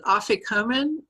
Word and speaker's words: afikomen: You used the phrase afikomen. Am I pronouncing that right?